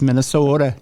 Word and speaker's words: Minnesota: the curling happens um it's actually pronounced with a d yes it is yes yeah Minnesota it's Minnesota yeah you don't say